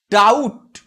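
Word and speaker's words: doubt: তখন কি হবে না, এখানে আমরা পটা উচ্চারণ করি না, আবার ডাউট।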